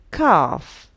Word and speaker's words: calf: Calf, silent L.